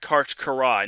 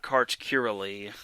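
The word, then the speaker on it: Karch Kiraly: out there and yes his name is actually pronounced kart karai not kart kearly which i actually was mind blown after that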